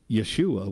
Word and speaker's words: Jesus: be saved but Jesus what's funny is that's not how you pronounce his name but Rose of any other name right still smells as sweet the the Yeshua would be the Aramaic version Asus would be the Greek version but then the Germans